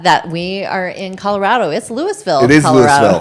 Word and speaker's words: Louisville: It's Louisville, It is Colorado. Louisville. That's right. That's how we pronounce it.